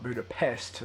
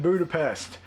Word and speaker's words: Budapest: Not Budapest. So apparently Hawkeye's been pronouncing it wrong the whole time. Whenever he's been saying, this is just like what happened in Budapest.